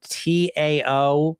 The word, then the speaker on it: Dao: The Dao of Living at your goal weight, Dao, Tao. Um, it is pronounced with a D, so it's a little confusing, but again, this is modeled after the Dao De Jing.